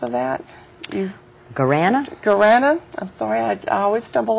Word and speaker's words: guarana: and Teresa, can you help me with the pronounce of that? Guarana? Guarana.